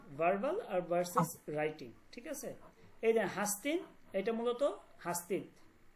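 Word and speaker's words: هستید: তারা এই দালটাকে নুন ধারা পরিবর্তন করে উচ্চারণ করে। ঠিক আছে? তখন তারা হাস্তি না বলে কি?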